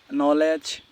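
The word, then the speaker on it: knowledge: যদি কোন শব্দের প্রথম অক্ষর কে এন থাকে তাহলে তার উচ্চারণ হবে ন এর মত। যেমন আমি কিছু ওয়ার্ড লিখে দিয়েছি। নো নিফ নলেজ নেই।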